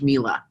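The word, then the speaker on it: Miele: It's pronounced Mila, everybody.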